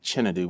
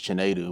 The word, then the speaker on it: Chinedu: So even to this day, I still end up saying like Chinedu versus Chinedu, which is like the proper pronunciation.